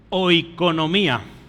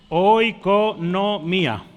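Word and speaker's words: οἰκονομία: que ve usted ahí se pronuncia así o economía Sí hoy con no mía sí o economía y la de abajo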